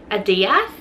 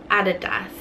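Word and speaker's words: Adidas: Nike now I've had the people in America pronounce it as like a das and I just don't get it how do you guys pronounce I don't understand because in Australia we pronounce it added us like that's how it's spelled us how it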